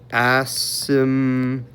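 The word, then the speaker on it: asymptotes: I usually just say VA because I'm lazy, but if you want to spell out vertical asimtotes again, you don't pronounce the P.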